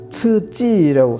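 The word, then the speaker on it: 刺激: QIZI를 알파벳 아무리 잘하는 사람한테 읽으라고 그래가지고 100명 갖다 놓으면 다 치즈라고 읽을 사람 한 명도 없어요. 그 다음에 이건 자극이라는 건데 이거는 더 츠찌라고 쓰는데 CIJI로 써요.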